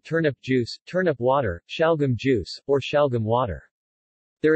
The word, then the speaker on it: Şalgam: salgum or salgum suyu it is pronounced shal gum in translation turnip juice is a popular and